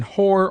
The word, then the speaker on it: whore: In whore only, and sometimes in wholesome, wh is sounded like simple h.